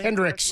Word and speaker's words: Kendricks: Kendricks, yeah, with an S at the end.